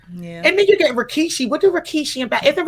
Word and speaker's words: Rikishi: Yeah, it is a Rikishi.